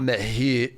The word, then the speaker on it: Mahut: American John Isner and Frenchman Nicolas Mahut, that's how you say it, had to stop their game 2 times because night fell.